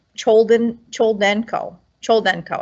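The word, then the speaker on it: Choldenko: her name right children chol denko chol denko i think i always want to add extra syllables to it so al capone does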